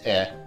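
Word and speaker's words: い: It's pronounced e. It's the equivalent to the vowel e in English.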